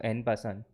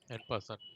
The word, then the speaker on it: en passant: In French, usually the last letter is silent. So it you don't pronounce it. So en passant. En passant.